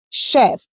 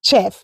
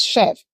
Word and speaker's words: chef: Also, we have letter CH. Examples, chef, not chef. That word is not pronounced chef, it's chef.